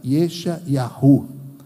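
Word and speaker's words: ישעיהו: Isaías, significa o nome dele, o Senhor é salvação, no hebraico, Yesha Yahu. Muito bem pronunciado lá no hebraico, isso é muito bonito.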